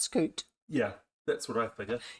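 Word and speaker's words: scute: S C U T E, I think it is. Yeah, that might be pronounced scoot.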